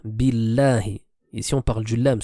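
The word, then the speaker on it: بالله: Ensuite, nous avons aussi comme erreur courante le fait de dire billahi, billahi, alors qu'ici, le nom d'Allah Azza wa Jal se prononcera de manière légère. Billahi.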